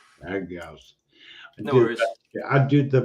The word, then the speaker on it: Agrios: It's Agrios, I say it correctly. How do you say your last name? Agrios. Agrios.